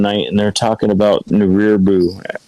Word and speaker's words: Nibiru: I'm sitting there talking with the kids one night, and they're talking about Nibiru. I'm not saying it right, am I, Mike? Nibiru. New beer. Yeah, beer, right. Ash taught me. Nibiru.